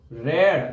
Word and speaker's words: read: तो the book is being रेड, READ लिखते तो READ में, रीड वाला सेम स्पेलिंग, लेकिन थर्ड फॉर्म को हम रेड बोलते हैं, रीड रेड रेड, spelling same है, READ।